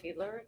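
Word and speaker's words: Fiedler: Uh will you uh please state your name and spell it for the record? Feedler.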